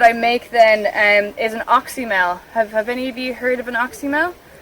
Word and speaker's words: oxymel: But How do you spell that? oxymel, so OXYMEL.